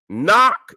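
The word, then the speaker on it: นาค: That in Thailand, Nak is Naga. They spell it N-A-K.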